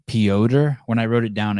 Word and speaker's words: Piotr: Piotr. When I wrote it down, I just write P-E-E-Oder. O-D-E-R. Piotr.